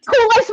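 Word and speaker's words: Kuel Life: you can Google Cool Life, but it is spelled Kuel.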